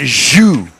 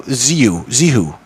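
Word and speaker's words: Zhou: Zihu. Let me try that. Or is that Zhu? No, Zihu. It's spelled Z-H-O-U.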